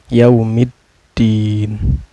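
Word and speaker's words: يوم الدين: Cara bacanya alif lamnya tidak dibaca, melainkan memasukkan dari huruf mim ke huruf dal dan ditekan sedikit karena ada tasdid ya.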